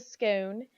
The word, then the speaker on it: scone: I always get to scone and coffee a scone if you're going to say it like a normal person and a scone if you're going to see it like the queen but that talks probably